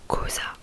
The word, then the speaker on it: cosa: Et aussi un autre mot, cosa, qui veut dire qu'est-ce que, non, qui veut dire qu'est-ce, donc ça s'écrit C-O-S-A, donc le C et le O ça fait co.